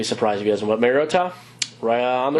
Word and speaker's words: Mariota: But Mariota, on the right track. Yeah, that hard T, Mariota. Yeah, so that's how it's pronounced.